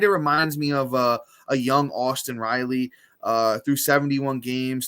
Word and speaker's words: Jung: He kind of reminds me of a young Austin Riley. Through 71 games, 280 at-bats, Josh Jung, spelt J-U-N-J, but it is pronounced Young.